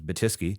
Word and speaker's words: Batyske: And my last name is is I love my last name, but it's a challenging last name. It's Batiski.